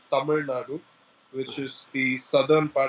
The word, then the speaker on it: Tamil Nadu: please repeat for the camera yeah it's called Tamil Nadu which is the southern part of India which